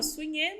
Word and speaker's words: Sune: Aí o Sune é S-U-N-E. Sune. Se fala Sunê, mas se escreve Sune, tá?